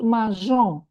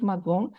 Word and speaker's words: mangeons: We said that there is irregularity here, that we add an E and we pronounce mangeons, not magon.